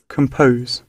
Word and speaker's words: compose: ওকে, তাহলে এটা রাইট প্রোনাউন্সিয়েশনটা করো তো। কম্পাস নে। ওকে, বলো কম্পোজ। compose, বলো স্টেজ দাও, খোম, বলো খোম কম পোজ।